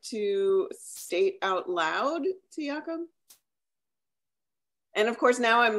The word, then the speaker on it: Jacoub: And it's like the pronunciation that I have is Jacoub. But a lot of people forget the B, so it's like Yaku.